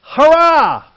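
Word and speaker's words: χαρά: What struck me as interesting about that word, it's C-H-A-R-A, but it is pronounced hurrah!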